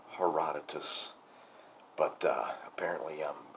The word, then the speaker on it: Herodotus: I have finished a book, Herodotus, the history. And yes, I know that it's Herodotus, but apparently I'm like genetically predisposed to mispronounce Greek names.